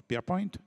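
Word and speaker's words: Pierrepoint: s'appelle Albert Albert pierrep ça s'écrit mais on prenonce pierp Albert avait une particularité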